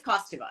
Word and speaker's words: Kostova: I think it's Kostova. It's Kostova. Kostova.